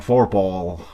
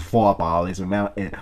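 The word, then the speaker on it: Vorphal: Y bueno, pues así en gringo lo pronuncian Forpal. Forpal, pero es Foapal, Foapal es un apellido alemán.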